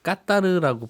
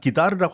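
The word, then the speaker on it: Qatar: 그래서 2시간이 더 갑니다 중간중간에 까다르라고 발음을 해주시던데 그 나라 사람들도 그렇게 발음합니다 그 나라 가서는 그렇게 얘기해야 돼요 사실은 그 아랍 표준어 발음을 깠다던가 맞는데요 거기 로컬 지역 사태로는 기다르라고 할 겁니다 기다려 할 거고요 아주 오래전부터 보면 로마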